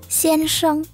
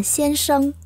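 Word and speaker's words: 先生: hoặc là Xên s anh bạn này có hai cách phát âm Bà phát âm đó là Xên s được và bạn phát âm nó là Xên sâ cũng được nhá Nó là danh từ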